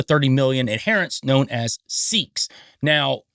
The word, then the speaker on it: Sikh: million adherents known as Sikhs. Now, the pronunciation of Sikh or Sikhism is what we say in the Western world, but in the Eastern world, they say Sikhs or Sikhism.